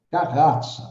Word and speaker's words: Carrazza: Quando chegou a minha vez, né, ele pronunciou o meu sobrenome em italiano, Carrazza.